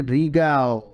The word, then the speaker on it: রিগেল: বলে তার থেকেও কিন্তু রিগেল অনেক বড় রিগেল আগে কি বলছিলাম রিগাল উচ্চারণটা ঠিক হয় নাই রিগেল হবে সেটা হলো 97 97